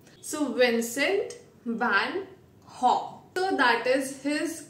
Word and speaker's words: Vincent van Gogh: So his pronunciation is Haw. So Vincent van Haw.